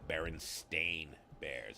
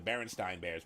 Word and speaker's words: Berenstain Bears: most of you got it wrong it's the berenstain bears it was never the berenstein bears but we always pronounced it myself i was guilty of this